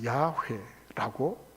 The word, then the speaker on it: 야훼: 그 4개의 단어를 히브리어는 원래 모음이 없으니까 모음을 갖다 붙였어요. 그래서 야훼라고 발음을 하거나 혹은 여호와라고 발음을 하게 됐어요.